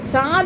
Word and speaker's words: চাঁদ: যেমন চন্দ্র থেকে হয়ে যাচ্ছে চাঁদ, চাঁদ উচ্চারণ যখন করছি তখন চয়ে চন্দ্রবিন্দু আকার চাঁদ, এই যে চ, এটা কিন্তু অনুনাসিক একটা ধ্বনি, অনুনাসিক ধ্বনি, ঠিক আছে?